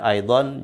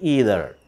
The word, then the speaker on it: either: Ya, aidan juga. Dalam bahasa Inggris ada kata yang artinya juga, yaitu aida. Itu kalau British pronunciation. Kalau American pronunciation ini either.